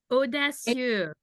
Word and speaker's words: Audacieux: used, as well as orange, and I can't pronounce it, but it's Audacieux. Audacieux.